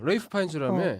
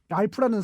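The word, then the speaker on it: Ralph Fiennes: 그게 왜 레이프 파인즈냐면 그게 랄프라는 그러니까 랄프라는 이름 자체가 고어래요. 고어래서 옛날 방식으로 읽으면 레이프인데 우리가 현대에 보기에는 그냥 랄프로밖에 안 보이니까 랄프라고 읽는데 본인은 나 아니다. 레이프 파인즈다. 본인은 늘 그렇게 주장을 해서 그러니까.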